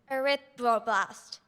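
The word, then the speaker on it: erythroblast: Arithro blast.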